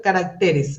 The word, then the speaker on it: caracteres: digo regímenes pésima especímenes carácter caracteres ahí ya deja de usar el la tilde porque es una palabra